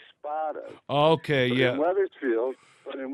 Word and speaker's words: Spada: area weatherfield weatherfield see now you pronounce my name Spa but we're actually spot okay yeah weatherfield but